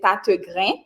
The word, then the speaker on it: Tategrin: Non, Pam, c'est Tategrin, qui c'est une signature qu'un pile monde des fois il y a des difficultés pour le prononcer, mais il est vraiment, vraiment facile, c'est Tategrin.